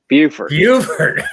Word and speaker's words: Beaufort: Beaufort.